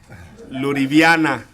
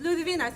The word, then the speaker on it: Ludivina: I didn't want to be Luriviana. It's Ludivina. See, you said it wrong again.